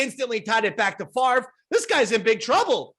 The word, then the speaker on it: Favre: Is that how you pronounce his name? Favre? Yes. Why? No, because they spell it so strangely. Roy, this guy's been in the sports and mainstream zeitgeist for 25 years.